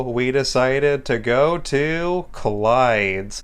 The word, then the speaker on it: Clyde's: got the name wrong instead of saying collides I kept on calling it Glades which oh I still